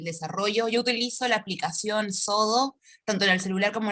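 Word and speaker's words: Xodo: Sodo, que se escribe con X, X-O-D-O.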